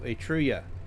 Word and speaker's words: Etruria: Etruria, or Etruria is how it's pronounced.